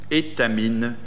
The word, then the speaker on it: Étamine: Ensuite, il est associé dans son groupement d'entreprises avec Euclid Engineering, avec R-Agence, avec Étamine, comme ça se prononce, Étamine, bonne mine, et EAI.